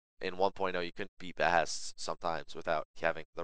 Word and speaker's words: Behest: Guild Hests are the terribly renamed versions of Behests, or Behests, as they should actually be pronounced.